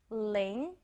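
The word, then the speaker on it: 零: is zero Ling Ling Ling sounds like linking we are linking all the zeros together very simple to write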